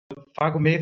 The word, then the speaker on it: PhagoMed: PhagoMed is the German pronunciation. I guess when we came up with the name, we didn't think about that probably English-speaking people wouldn't really know how to pronounce it.